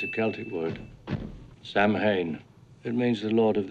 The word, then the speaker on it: Samhain: Samhain. It means the Lord of the Dead. Which is actually pronounced Samhain, and Dr.